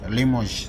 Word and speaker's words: Limoges: Limoges, yes, Limoges, that's the correct pronunciation, close to what should be correct.